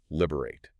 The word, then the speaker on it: Liber8: It specifically says three syllables, liberate.